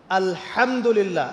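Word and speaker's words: الحمد لله: আলহামদুলিল্লাহ। এই হা এর মাখরাজ কোথায়? হা এর মাখরাজ কোথায়? বলেন একজন কন্ঠনালীর মাঝখান থেকে এখান থেকে আপনি উচ্চারণ করছেন আলহামদুলিল্লাহি রাব্বিল আলামিন অর্থ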